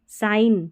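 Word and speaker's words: sign: जी एन को न पढ़ा। ठीक है? जैसे नेट पढ़ा क्योंकि यहां पर जी साइलेंट है। साइन देखिए साइन पढ़ा यहां पर जी साइलेंट है।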